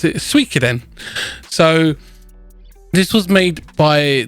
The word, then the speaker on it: Suikoden: So, little backstory: this game was originally made by the guy who created the game Suikoden, or if you're American, some people pronounce it Suikoden.